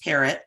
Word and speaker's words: Perritt: My last name is pronounced Parrot, like Mary.